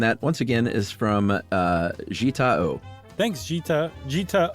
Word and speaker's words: Jita O: And that, once again, is from Jita O.